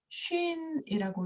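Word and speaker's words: שין: 만약에 점이 이 오른쪽에 있다면 얘는 쉰이라고 읽고 점이 왼쪽에 있다면 얘는 씬이라고 읽게 되는 거죠. 그래서 쉰, 씬 또는 씬, 쉰 하고 기억해 주셔야 합니다.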